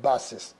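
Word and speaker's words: basis: 그러면 C자 다음에 I자가 있으면 EIY 룰이 적용이 돼서 C자는 스 발음 난다 이렇게 되는 거예요. 그러면 여기 앞에서 S자도 스 발음 나니까 스 발음이 겹친다. 그러면은 앞에 건 뭐 발음 안 한다. 뒤에 건 발음 한다. 그러니까 이거는 뭐냐 바가 되고 이거는 시스가 돼서 바시스. 그래서 바시스 이런 발음이 됩니다.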